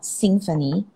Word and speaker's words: Singfanie: So it's called Singfanie, as in symphony, but it's spelled in a way that incorporates Singapore and Stephanie.